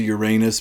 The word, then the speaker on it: Uranus: Went to Uranus, Missouri. Uh, yes, that is how they pronounce it when you're there.